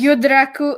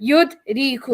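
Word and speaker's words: يدرك: yudraku No. Yuslimu Islaman, right? Yeah. Aslama Don't overthink it. Yudriku. It's just gonna rhyme with Aslama Yuslimu Islaman.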